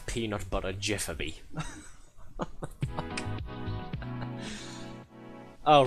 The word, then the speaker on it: GIF: The fact that um you don't know that the word is pronounced Jeff.